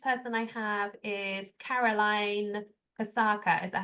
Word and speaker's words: Kasaka: Okay, next person I have is Caroline Kasaka. Is that how I pronounce it?